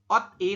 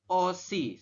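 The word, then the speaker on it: 옷이: Jadi Anda membacanya bukan ot i tapi dibacanya adalah OC seperti ini.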